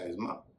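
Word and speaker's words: asthma: में आप जान लीजिए आखिर में एस्मा या अस्मा जिसे कई लोग अस्थमा बोलते हैं वहां भी उसका उच्चारण अस्मा या अस्म्मा होगा अस्थमा नहीं होगा अंग्रेजी शब्दों के उच्चारण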